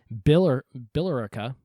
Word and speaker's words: Billerica: Malden and Reading and let me pronounce this right, Billerica, I guess that's how you pronounce it, in response, okay, the governor fighting all these little Baptists arising.